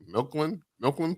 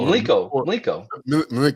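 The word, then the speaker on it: Mlíko: I don't know how to correctly pronounce it. Milkland pour. Do you do that? Oh, Mliko.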